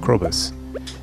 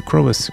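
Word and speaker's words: Krobus: Although crocus rhymes with crobus, it was not exciting.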